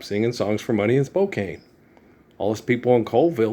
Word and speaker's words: Spokane: problem as the people in Spokane with people mispronouncing their name in their spoken language. No, it doesn't happen. No. It's Spokane.